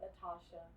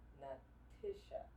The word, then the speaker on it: NaTisha: your name thank you Leticia not Natisha not Natasha not Latasha Natisha so take it up